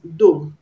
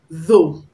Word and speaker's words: though: as 11 man as an english learner you pronounce it as do do though i don't ask our educations i'll say what's possible so pronounce the word ordinarily as do so the correct pronunciation is though though it's that we pronounced as the originally